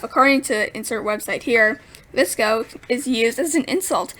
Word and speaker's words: VSCO: the scrunchies in hydra flasks the history the visco name comes from the photo editing app pronunciation vsco this ghost stands for visual supply company it is an app that was created in california 2011.